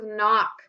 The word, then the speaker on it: knock: answers are silent letters silent letters at the beginning of the word we either have K or we have a w so one of our spelling words is knock I want you to